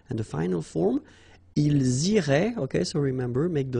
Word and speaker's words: iraient: So ils iraient, and then if you look carefully, you get A-I-E-N-T. Okay, but then phonetically it goes like E. Okay, so technically these form and these forms here are pronounced the same way, and it goes like irait.